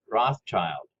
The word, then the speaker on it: Rothschild: In English, it's pronounced Rothschild.